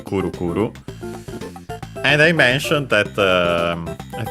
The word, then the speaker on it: くるくる: is spinning around, and it should be accented just like most onomatopoeias on the first syllable. Yes, it is Kuru Kuru.